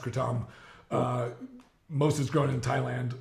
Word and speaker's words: kratom: They should make sense because there's you know what kratom is, right? Yeah. Katom, technically it's pronounced Katom.